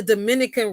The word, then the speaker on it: Dominica: kids Dominica hold on not the Dominican Republic Dominique Dominica that's how it is that's how you say it but um so for